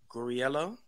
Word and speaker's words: Guarriello: just like H they for so yes gorello I'm learned with on all social media platforms and yeah that's my name okay so let me make sure I pronounce it correctly gorello yeah beautiful gorell okay all right that's new